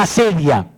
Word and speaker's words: acedia: La asedia. Entonces pongan ahí, el demonio de la asedia. Asedia se escribe A-C-E-D-I-A. Asedia. Como suena con C.